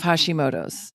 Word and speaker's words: Hashimoto: You cured yourself of Hashimoto's.